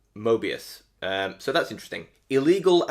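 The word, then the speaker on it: Möbius: girdle's incompleteness theorems uh but I don't hear as much consistency with merbius I think most people would say that Mobius um so that's interesting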